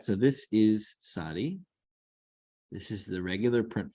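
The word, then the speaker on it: צדי: Next we have sadi. All right. And here it is that sound that you get nuts. This is a very Hebrew sounding, very distinctive Hebrew sound.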